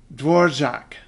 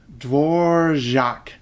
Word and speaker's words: Dvořák: A lot of people look at that DV and think, okay, dva. No, no, no, no, no, no. Don't add an extra syllable.